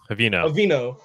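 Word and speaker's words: Haveno: You know how to pronounce it, Doug? Havino.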